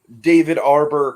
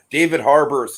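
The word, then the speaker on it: David Harbour: of course the new David Arbor kind of uh it's the Universe I don't know it's not a holiday about trees for some reason I I always think that the H is silent I I don't know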